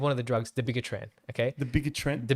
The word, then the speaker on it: dabigatran: So, for example, one of the drugs, the bigatran, okay, The bigger trend. the bigatran. Some people say as dabigatran. I say as the bigatran, all right.